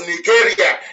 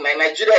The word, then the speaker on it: Nigeria: As long as Nigeria, that's the proper pronunciation, not Nigeria is the phoneme pronunciation.